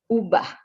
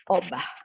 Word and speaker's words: ubah: And the word ubah should be called ubah and not obah.